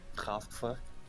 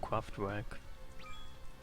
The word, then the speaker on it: Kraftwerk: Can you say the German pronunciation? Kraftwerk.